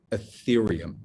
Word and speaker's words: Ethereum: my number one crypto recommendation today is called ethereum and I'm going to spell that for you e t h e r